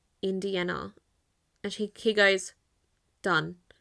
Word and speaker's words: Indiana: Um, and it's I N D I A N A. So, it's not Indiana, it's we we pronounce it in Spanish, Indiana.